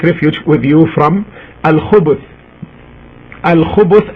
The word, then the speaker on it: الخبث: Al-khubuth, as it's pronounced now by me, al-khubuth with the ba, with the letter ba taking a dhamma, as you can hear me, al-khubu, khubu, al-khubuth.